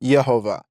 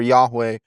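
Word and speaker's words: יהוה: Yeah, in Hebrew, it is pronounced Yehovah, but is very clearly, or Yahweh is another variation of that.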